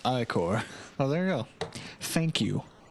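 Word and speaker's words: Ichor: trle chalice I can fill it with magical I or ier I think that's how you pronounce it um oh he says it it's that's pronounced iore oh there you go thank you thank you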